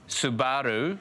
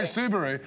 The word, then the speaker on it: Subaru: yeah no I know Subaru yeah I'm saying it like you would say it if if you were Japanese and you're not and you're saying you're saying it like you pronounce kangaroo yeah kangaroo yeah but